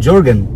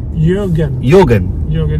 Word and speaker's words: Jürgen: Jürgen. Jürgen, like Jürgen Klinsmann. Okay, got it. Did you get it? Yeah. But you spell it J, right? Yes. Yeah. It's pronounced the soft J.